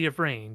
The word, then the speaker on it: Yvraine: Is it Yishra or Yevran? Or can you? It should be Yvrain there.